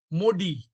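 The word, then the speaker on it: MODY: Modi that is actually the pronunciation is modi.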